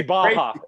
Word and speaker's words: Barra: in Portuguese, the two R's is pronounced with a J or like a ha sound.